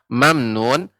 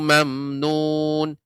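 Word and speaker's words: ممنون: Nah, untuk pengucapan mamnun, tidak boleh panjang mim yang berharokat sukun. Tidak boleh mamnun. Yang benar, mim mati bertemu dengan nun adalah izhar syafawi. Jadi, ajrun ghairu mamnun. Mamnun. Tidak mamnun.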